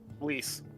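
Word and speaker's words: Lyse: I feel like uh Lee feel like Lei's going to find someone. Lease. It's lease.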